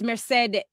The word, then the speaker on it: Merced: So it's Merced. Yeah. Merced. But because it's not Mercedes, there's a deh on it.